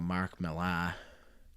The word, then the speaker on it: Millar: Kevin Millar played for the Red Sox, won a World Series in 2004. Was it spelled like that? And it's spelled just like that, so I'm gonna go like he's like Kevin Millar.